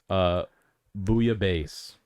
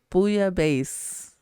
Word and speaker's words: bouillabaisse: Booyah base. Booyah base.